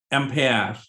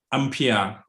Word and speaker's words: ampere: on pal and uh in english it's gonna be called uh empire okay in british english impaired in u.s okay united states uh english they're gonna call ampere okay so whatever way you pronounce okay is is understandable okay uh so the